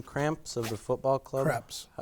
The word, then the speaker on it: Kreps: Kreps. It's Kreps. Kreps. Kreps. It's phonetically correct.